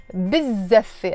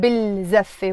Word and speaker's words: بالزفة: in this case, بالزفة, I don't pronounce the L, I say بالزفة.